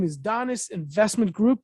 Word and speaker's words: Donis: And the company name is Donis Investment Group. Did I say it correctly? Donis Investment Group.